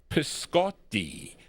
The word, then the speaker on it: Piscotti: Her name is Connie Piscotti. That's how you say it in the Italian language.